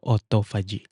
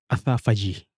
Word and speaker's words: autophagy: nga sa ibang bansa ang pronunciation nila sa word na ito autophagy So kahit h naman sa ating mga Pilipino po pronounce natin as autophagy pero sa in American standard language or pronunciation athag Parang ganon e Parang athag Anyway i-google